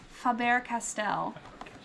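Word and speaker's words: Faber-Castell: spun all around and and how do you pronounce the company's name Faber Castell yeah we have um this the line creative creativity for kids from fabber Castell um and that's what this whole line is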